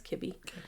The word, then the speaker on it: Kibby: car, Nate Ker Kibby, I said Kirby before, but it's Kibby. How do you spell that? K I B Y. Okay, cool. Yeah, I read it as an R, but it's a B.